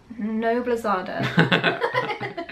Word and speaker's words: Noblezada: Noblezada. You know I'm going to put a little thing here. This is how it's pronounced.